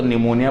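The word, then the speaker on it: pneumonia: in case of airborne disease, airborne जो disease होती है जैसे कि निमोनिया, पी साइलेंट रहता है तो निमोनिया पढ़ते हैं इसको, कॉमन कोल्ड, इन एडिशन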